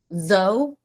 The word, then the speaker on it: though: It's pronounced as though. Kind of rhymes with dough, but with a th at the beginning.